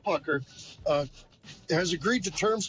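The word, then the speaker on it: Puchyr: That's Pucker. It's pronounced Pucker.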